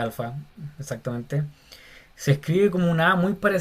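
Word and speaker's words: ἄλφα: Y se escribe aquí como dice llamada en griego, alfa, se pronuncia alfa, exactamente.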